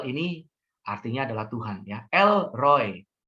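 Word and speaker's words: אֵל רֳאִי: El Roy ini pakai hataf kamas ya, dibacanya O Roy ya.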